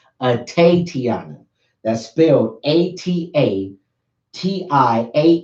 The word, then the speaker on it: Atatiana: type in at a Tiana her name is pronounced at a Tiana that's filled 88 TI a in a Jefferson je FF er som at a Tiana her loved ones and friends call her tape